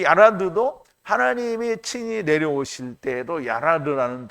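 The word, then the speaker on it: ירד: 여기는 야라드예요. 여기는 이제 레시는 그냥 레 발음이 나고요. 여기는 좀 굴러가는 르스 발음이 나요. 그래서 얄라드, 야라드인데요. 이 야라드도 하나님이 친히 내려오실 때에도 야라드라는 단어를 썼는데요.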